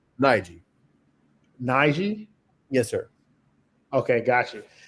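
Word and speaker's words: Najeh: Uh, how do you is it is it Naja? How do you say your name? Nigi.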